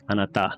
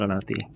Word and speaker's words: あなた: Anata, not anati.